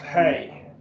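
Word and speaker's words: ἡ: And so we have the article, this Ada with a rough reading is pronounced hey.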